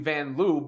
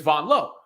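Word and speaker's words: Vanloo: a a game Belgium Squad led by Julie vanon L uh we've all known her as Julie vanl before but apparently the correct pronunciation is Von L nonetheless Sabrina said sh at the end of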